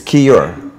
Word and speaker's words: Keyur: crazy the today we our special guest is key or from Camp B XCOM did I pronounce it right okay great welcome it's key or okay you're okay you're okay I it's not